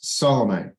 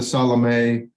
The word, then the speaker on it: Salome: We say Salome. And so Salome or Salome, whichever you prefer, it doesn't matter. In English, we mispronounce everything anyway, so it hardly matters. But Salome, I think, is closer to correct.